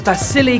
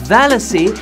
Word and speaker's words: Vasily: Question about Vasily Kandinsky, whom I heard myself mispronouncing as Valacy and then still made a joke about his name having silly in it.